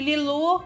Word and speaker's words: Lilou: Eu coloquei um nome que é super difícil de se pronunciar, que Lilu é um nome mesmo francês. E aí se escreve Lilou, L-I-L-O-U. Então, muitas pessoas acham que é Lilou, sabe?